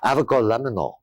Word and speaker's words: avgolemono: And the egg lemon sauce that we're using is actually pronounced avgolemono.